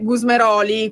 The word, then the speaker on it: Gusmeroli: Eccoci qua, mi dicono dalla regia che c'è in linea con noi l'onorevole Gusmeroli. Questa volta non ho sbagliato l'accento del cognome perché solitamente mi riprendete sempre.